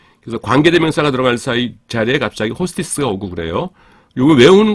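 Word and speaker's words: ὅστις: 그래서 관계대명사가 들어갈 자리에 갑자기 호스티스가 오고 그래요. 요거 외우는 건 간단하죠. 그러니까 호스티스 하면은 뭐 그런 단어를 술집에서 사용하는 단어를 쓰고 싶지 않은데 발음이 너무 똑같아요.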